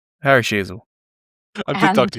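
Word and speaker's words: Sheezel: Surname rhymes with Cheezel. Harry Sheasel.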